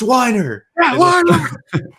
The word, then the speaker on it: Weiner: he's like by himself it's pronounced whiner the two of us